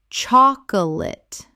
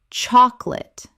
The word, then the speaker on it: chocolate: Chocolate. Correct pronunciation. Chocolate. Only 2 syllables in natural speech. The middle vowel disappears entirely.